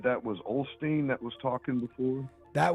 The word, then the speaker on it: Osteen: So I thought you said that was Osteen that was talking before. That was a video from Joel Osteen, I believe.